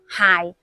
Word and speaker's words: 解: 話讀謝，粵語讀械，係姓械，冇讀成姓解喎。